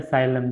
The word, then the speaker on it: psyllium: इसका एग्जांपल अगर हम टैबलेट के फॉर्म में देखें तो इसका एग्जांपल है साइलम, जो कि पी में साइलेंट है, PSYLLIUM लेक्सेटिव। तो आइए देखते हैं इसमें क्या है डेफिनेशन।